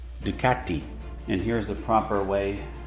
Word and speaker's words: Ducati: maybe 45 years old here's the proper way to pronounce ducati in italian ducati and here's the proper